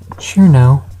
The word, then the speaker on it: Cirno: close friend or an unrequitted lover of Shiro Shiro which is how I choose to pronounce her name is a fairy with the